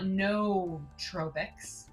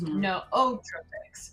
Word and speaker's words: nootropics: It's not nootropics, which is what I thought. It's nootropics, right?